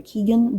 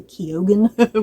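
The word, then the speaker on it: Keoghan: Because for the longest time, I pronounced his name Barry Keegan, but I've heard people pronounce it Barry Barry Kogan, which sounds kind of weird to me.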